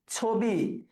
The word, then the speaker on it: ছবি: ছবি বলি না ছবি? ছবি এখানে সংবৃত হচ্ছে।